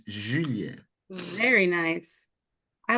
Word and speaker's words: Julien: Oh, Yeah, but English speaking people say Julian, but the proper pronunciation is Julien.